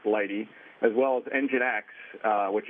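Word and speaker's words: lighttpd: lighty which is the lightht tpd but it's pronounced lighty as well as nginx which is another very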